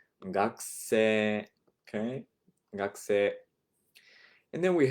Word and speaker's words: 学生: And you'll notice the pronunciation がくせ. You're kind of elongating the e sound at the end. 学生, okay?